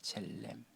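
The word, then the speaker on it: צלם: 차데 라메드 mem으로 되어져 있습니다. 뭐라고 읽냐 하면 첼렘이라고 있습니다. 첼렘.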